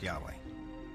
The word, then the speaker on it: Yahweh: knew God by his intimate personal name conventionally pronounced Yahweh passages with the name Yahweh which in German is spelled with a J